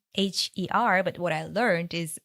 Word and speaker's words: Moher: So it's spelled like Moher, but what I learned is the Irish pronunciation would be the cliffs of Moher.